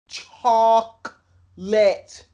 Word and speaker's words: chocolate: this type of stuff you need to say it correctly chocolate chalk lit till this day i